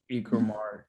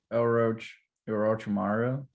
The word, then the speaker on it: Orochimaru: Ikumar. True. No. Hold on. Orochimaru.